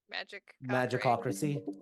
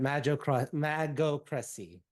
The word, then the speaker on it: Magocracy: attempt to spell magic Magicocracy. Yes, magic cockring. Oh, let me just make sure I was also saying it correctly. Oh, I missaid it. Magocracy. Magocracy. Rule of mages.